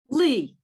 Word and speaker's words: Lee: do you actually and your name is pronounced lay right lee lee great yes ma'am lee thank you